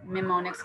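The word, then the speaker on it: mnemonics: इसको लिखा इसी तरह जाता है, ठीक है, और पढ़ा मेमोनिक्स कहा जाता है, यानी कि वो ई जो है वो साइलेंट हो जाता है।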